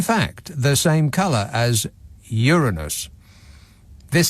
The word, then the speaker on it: Uranus: have been um but suddenly news readers were saying Uranus and that is is definitely not how we were pronouncing it before that moment maybe they just realized